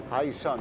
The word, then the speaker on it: HiSun: Ça s'écrit H-I-S-U-N. S-U-N, c'est ça. Hi- Sun, High Sun, comme le soleil C'est ça.